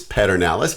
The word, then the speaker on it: Pedernales: And in case you're some of those LBJ people that don't know exactly how to pronounce Pedernales, it's Pedernales, and you see the spelling of it down there.